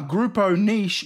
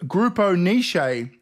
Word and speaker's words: Grupo Niche: grammy award and he pronounced the winner grupo nish instead of grupo nishi that's it now shall